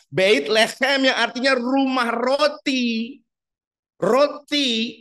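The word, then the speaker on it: בית לחם: biasa kata bet lehem dalam bahasa ibraninya itu bait leem pengucapannyait Le ada seraknya seperti drama Korea gitu loh ya huten Moren Nah itu seperti dengkur leem bukan lecem apalagi lecet enggak boleh ya bait lehem yang artinya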